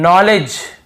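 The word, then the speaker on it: knowledge: यानी घुटना होता है नॉलेज यहां पर भी देखिए नॉलेज यहां पर भी डी साइलेंट है नॉलेज ये नहीं है नॉलेज डी भी साइलेंट है और यहां पे के भी साइलेंट है।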